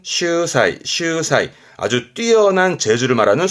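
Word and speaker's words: 秀才: 발음은 슈사이, 슈사이.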